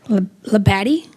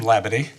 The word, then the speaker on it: Labid: Labatti. Why am I close? Close. My name is Labid.